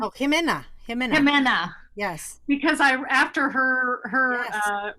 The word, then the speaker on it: Jimena: And a shout out, and I'm not going to say her name right, Zaminia, is that how you say her name? Oh, Jimena.